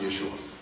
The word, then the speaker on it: Yeshua: We believe that it would be pronounced Yeshua.